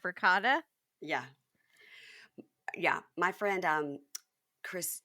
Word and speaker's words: ricotta: ricotta instead of ricotta.